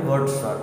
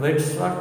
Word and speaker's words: Wadsworth: অনেকে বলে এটা ওয়ার্ডসওয়ার্থ না, এটা ওয়েডসওয়ার্থ, অনেকে বলে ওয়ার্ডসওয়ার্থ। তো এইটার উচ্চারণ নিয়ে অনেকে, কিন্তু আমেরিকানরা নিজেরাই বলে এটা ওয়ার্ডসওয়ার্থ, অর্থাৎ ওয়েডসওয়ার্থ বলার কোনো দরকার নেই।